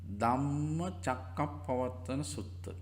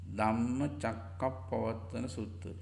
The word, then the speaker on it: Dhammacakkappavattana Sutta: It's named as a Dhamma Chakkappavattana Sutta. Dhamma Chakkappavattana Sutta. Dhamma, DHAMMA, Dhamma, CAKKA, PAVATTANA. Dhamma Chakkappavattana Sutta. Dhamma Chakkappavattana Sutta. we pronounce it as Dhammacakkappavattana Sutta. Dhammacakkappavattana Sutta.